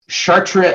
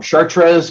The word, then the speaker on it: Chartres: the 12th that is chartre I'm saying it wrong chartres Cathedral and the preservation